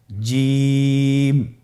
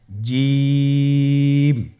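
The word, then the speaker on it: جيم: আপনারা আমার সাথে বলুন জিম, হা, খ। জিম হরফটি বারিক হরফ, এটা উচ্চারণ করতে হবে 3 আলিফ টেনে। দেখুন আমি কিভাবে উচ্চারণ করছি, আপনারা আমার সাথে করুন জিম। মাশাআল্লাহ, আবার বলুন জিম।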